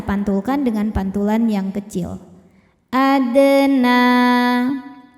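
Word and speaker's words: أدنى: Adna, na mad tabi'i muqaddar karena ada nun berbaris fathah panjang. Cara bacanya panjang 2 harokat.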